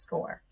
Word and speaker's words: SCOIR: you a system called score while it's spelled s c o i r it is indeed pronounced score score is this web-based system